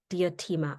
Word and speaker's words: Diotima: She is the founder and creative director of Diotima. Am I pronouncing that correctly?